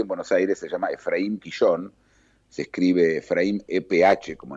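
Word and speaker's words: Ephraim Kishon: que se consigue en Buenos Aires, se llama Efraín Quillón. Se escribe Efraín EPH, como en inglés, Efraín Quillón, K-I-S-H-O-N, que fue un escritor humorístico que retrató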